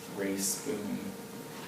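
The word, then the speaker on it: Rae Spoon: Spring Grass Fire, by Ray Spoon, which is a young adult book, sort of exploring sort of biographical and autobiographical information. Ray Spoon is spelled R-A-E, and then the last name is Spoon.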